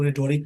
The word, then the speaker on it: rhetoric: इसके स्पेलिंग भी याद रखेंगे, RHETORIC। इसमें एस साइलेंट होता है, इसको रिटोरिक पढ़ते हैं।